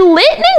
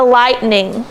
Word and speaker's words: lightning: So did lightning make any sense? No, ma'am. No. So if you're reading this and it doesn't make sense, you can say, oh, I should try a long I instead of a short I.